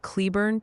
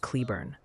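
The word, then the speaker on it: Cleburne: And hey, someone named Tony politely suggests Cleburn, Texas is pronounced more like Cleburn.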